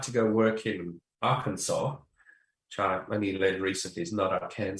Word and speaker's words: Arkansas: to go work in Arkansas, which I only learned recently. is not our Kansas, it's Arkansas. It's the pronunciation.